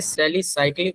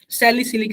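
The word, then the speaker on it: salicylic: हाँ भाई, सैलिसिलिक हम लोग बोलते हैं, प्रोनाउंसिएशन सैलिसिलिक एल्डिहाइड होता है।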